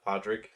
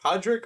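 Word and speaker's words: Padraic: and uh Podrick uh I can't never pronounce his name is it Podrick or project all right all right yeah there you go partic and column partic part I said you know what p-a-d-r-a-i-c Ard Rick I guess or Podrick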